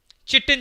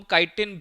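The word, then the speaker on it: chitin: काइटिन की, चिटिन जिसको अब आपको प्रोनाउंस किया जाता है, मेरे टाइम में होता है।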